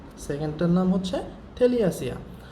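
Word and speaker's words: Thaliacea: একটা হচ্ছে অ্যাসিডিয়াসিয়া, নামগুলো খুব কঠিন, তারপরেও একটু উচ্চারণ করবো, বাংলায় উচ্চারণ লিখে দিয়েছি এই কারণে। অ্যাসিডিয়াসিয়া। সেকেন্ড হচ্ছে থেলিয়াসিয়া, সেকেন্ডটার নাম হচ্ছে থেলিয়াসিয়া।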